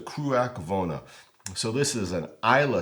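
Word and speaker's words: Cruach Mhòna: edition buah Haven the kak vona spelled much differently than it's pronounced but it is the kak vona so this is an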